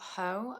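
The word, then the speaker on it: Haux: I've got Hoe, which is spelled H A U X. Ho.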